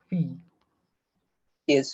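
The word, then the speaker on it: fils: It should be fee, but thing is that it will become the same word, same pronunciation like that. I think maybe because of that or whatever reason, this will not be pronounced as fee. This is as exceptionally, it is pronounced as fees.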